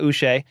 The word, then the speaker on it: Uche: They went and got Uche. And I always remember his last name because it rhymes with Boucher, Bobby Boucher from The Waterboy.